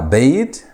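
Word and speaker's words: בֵּית: Now, Beit is coming from the word Bayit. As you can see, it has been constructed or changed. The Patach has been changed into a Sereh, and the Hirek has dropped, so you have Beit Yisrael.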